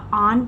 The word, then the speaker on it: own: ऑन का ये W silent रहता है। यहां पे डब्ल्यू का उच्चारण नहीं होता। ऑन पढ़ा जाता है इसको।